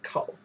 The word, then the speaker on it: 口: And inside, we pronounce the kou.